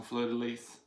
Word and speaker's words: fleur-de-lys: week and Elizabeth Fraser you pronounce the S on fleur-de-lys I heard you say